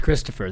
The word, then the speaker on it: Christopher: Okay, we're going to wind down now with Christopher. That's me. 3 syllables. It's not that hard to spit out 3. You spit out 1, you spit out 3.